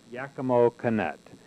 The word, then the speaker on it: Yakima Canutt: And today I'm interviewing one of these individuals whose name is Yakima Canutt. Let me get the pronunciation. Is it Canutt? Yakima Canutt.